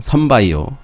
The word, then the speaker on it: 선바이오: 들고요 그 다음 종목은 써니라고 해야 되나요 발음은 선바이오 썬바이오라고 제 읽어야 될 거 같은데요 종목도 이제 이때였죠 이때